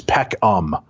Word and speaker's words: Peckham: To save you from the trouble of pronouncing his name, it is Peckham.